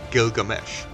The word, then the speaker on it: Gilgamesh: for the narrative his name for a time provisionally read as dish the wall or Easter bar but now known to have been pronounced Gilgamesh the name suggests that